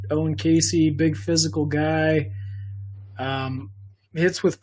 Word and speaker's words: Caissie: Caissie.